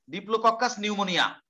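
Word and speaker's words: Diplococcus pneumoniae: ডিপ্লোককাস নিউমোনিয়া, পি এর উচ্চারণ হবে না, ই এর উচ্চারণ হবে না, ডিপ্লোককাস নিউমোনিয়া।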